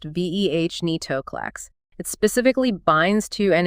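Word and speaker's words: venetoclax: A key example is venitolax pronounced veh netoclax.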